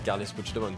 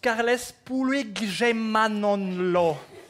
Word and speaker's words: Carles Puigdemont: Ça c'est Carles Puigdemont, ça. Oh, mais non, ah non, non, malheureusement ça se prononce Carles Puigdemont.